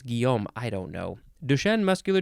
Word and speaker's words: Guillaume: that first name is g-u-i-l-l-a-u-m-e Guillaume gilom but they might not say the Els Guillaume I don't know duchenne